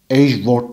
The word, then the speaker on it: Edgeworth: ismini Edge Edge Word ageworth diye okunuyor da biz böyle ifade